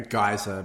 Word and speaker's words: geyser: So it was like, it's a geyser, but it's pronounced geezer. Yeah, it is one of those ambiguous words that very much depends on accent.